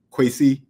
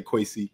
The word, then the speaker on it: Kwesi: So Diane, it's qui. Like that's how you actually say my name. Qui, but I don't I don't really put that on people. You don't put mom's mom's annunciation on people. So I just say quy, you know, like just like that.